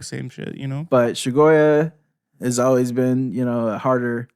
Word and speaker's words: Chagoya: It's pronounced Chagoya. Chagoya. All my like friends Chagoya. have felonies. Goya. Yeah, like get it right. It's not Yo. It's not Chagaga.